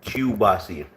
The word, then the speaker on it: kielbasa: No, kielbasa. Kielbasa. I think it's spelled like Kielbasa, I believe.